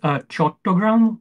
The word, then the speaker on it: Chattogram: I'll also tell you, I'll read out some of the cities just so you know how to pronounce them. The main city is Dhaka. The second one is Chattogram or Chittagong.